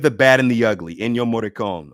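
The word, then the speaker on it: Ennio Morricone: bad and the ugly enyo moricon or enyo moricone i think it's pronounced but i love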